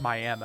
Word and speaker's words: Miami: But you have to call it Miami, or otherwise it pisses Oklahomans off. It's Miami, Oklahoma.